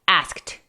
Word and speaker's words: asked: Asked. Asked. Asked. I asked you. I shouldn't have asked you. I should never have asked you. Como que la pronunciación de la letra K sufre cuando estás hablando rápido.